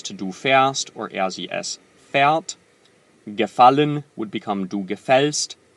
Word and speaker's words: fährt: Fährt, not fahrt.